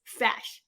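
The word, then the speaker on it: feis: application called fash yeah i know it spells like f-e-i-s but really pronounces fash that just fascinates me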